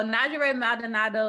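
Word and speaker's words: Njeri Maldonado: So Najere Maldonado is a New Orleans, Louisiana native who loves to spend time with friends and family while eating good food.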